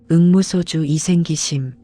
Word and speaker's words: 응무소주 이생기심: 한글 발음으로는 이렇습니다. 응무소주 이생기심. 이게 무슨 뜻일까요?